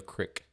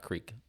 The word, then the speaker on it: creek: If you live in central Illinois, that is pronounced the crick, not creek. It's fucking... Technically, it is creek, and crick is not a word.